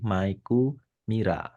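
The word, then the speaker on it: マイク・ミラー: Miller dia dari bahasa Mike Miller di jadikan cara baca versi Jepang menjadi maiku Mira dia cowok bukan cewek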